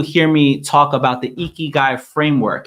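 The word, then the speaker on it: ikigai: Many of you hear me talk about the eeky guy framework.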